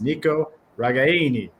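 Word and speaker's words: Nico Ragaini: pronunciations out there folks it's Nico ragayani right I mean if you think about it like you're in Italian so we're gonna we're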